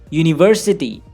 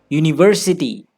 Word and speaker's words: university: Listen to these words carefully when I pronounce them. Breakfast, banana, tomorrow, university, information. Can you hear it? The highlighted parts of these words are stressed or emphasized.